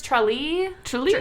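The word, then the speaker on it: Tralee: on this one either i heard it pronounced a couple different ways in a couple different youtube videos i'm pretty sure it's i'm pretty sure it's trolley trailey trailey t-r-a-l-e-e i didn't go this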